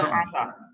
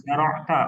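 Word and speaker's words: زَرَعْتَ: Ini disukunkan. Nah, disukunkan antum Zaro- tambahin ta. Zaro'ta.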